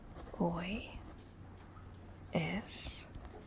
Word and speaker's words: hoy: it's spelled e s the H is mostly silent so you're practically just pronouncing the O and Y O and S almost